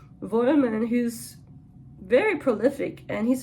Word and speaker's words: Vollmann: Wollman. In German he would be Vollmann, because we pronounce the V as an F. Vollmann, who's very prolific, and he's an interesting fellow,